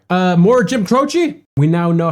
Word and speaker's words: Croce: Uh, more Jim Crochi.